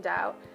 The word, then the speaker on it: doubt: B must not be heard in doubt. Debt and dumb, but leave it out.